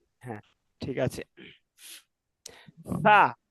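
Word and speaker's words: ف: হ্যাঁ ঠিক আছে ফা ফার উচ্চারণ কিভাবে পড়ছিলাম মাখরাজ নিচের ঠোটের পেট নিচের ঠোটের পেট সামনের উপরের দুই দাতের কিসের সঙ্গে লাগাইয়া আগার সঙ্গে লাগাইয়া ফা একটু হালকা বাতাস বের হবে আলিফ দুই জবর ফান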